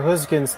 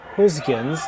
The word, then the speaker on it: Gosgens: So, and all the studying of the Dutch language that I did today, the skip's name Gosgens, that first G, attempted to say it like a G sound.